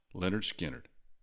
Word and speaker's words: Lynyrd Skynyrd: And that album, Pronounced Leonard Skard.